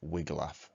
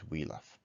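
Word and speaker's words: Wiglaf: defeated the dragon together i looked up how to pronounce the wheatlock because i said wiggle off for years and apparently it's wheeloff number five beowulf dies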